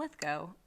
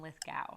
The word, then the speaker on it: Lithgow: his part Danny DeVito John lithco or Al Pacino John Lithgow sorry I mispronounced it uh I I just